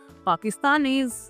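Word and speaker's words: pakistanaise: तो इसका प्रोनाउंसिएशन होगा पाकिस्तानीज, पाकिस्तानीज, पाकिस्तानीज।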